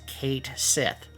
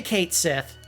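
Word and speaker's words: Cait Sith: which is pronounced Ki according to Square Enix it is actually pronounced Kate Sith so if you say Kate Sith depending on the context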